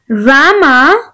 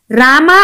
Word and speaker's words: Rama: रामा और राम both are correct. Okay, Gujarat में ज्यादातर प्रोनाउंसिएशन कैसे किया जाता है? रामा, लक्ष्मणा, भरता. ओके, लेकिन हम कैसे प्रोनाउंस करते हैं इसको? राम, Lakshman, Bharat. So both pronunciation are correct, so don't get confused.